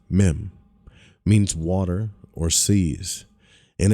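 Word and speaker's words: מם: is here right now the Hebrew letter meim pronounced meim means water or seas in occultism it stands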